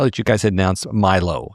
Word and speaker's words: Mylow: I saw that you guys had announced Mylow. So it looks like Mylows, but it's spelled Mylow as a name.